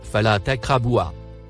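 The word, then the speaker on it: فَلَا تَقْرَبُوهَا: Il se prononce, Fala takraboua.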